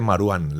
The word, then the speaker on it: Marwán: Entonces se le he puesto, se dice Marwan. La W es como pronunciación inglesa, como una U normal, ¿no?